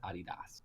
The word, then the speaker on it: Adidas: Well, the European version is Adidas.